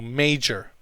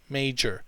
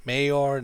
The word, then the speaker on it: major: own pronunciation of this it's may like the month of may march april may and jur like the woman's name geraldine okay or gerund okay so major major so can play a